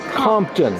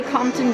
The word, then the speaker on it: Compton: your name Jean pton Jean Compton c o n p t o n like the city yes spelled the same way Jean would you spell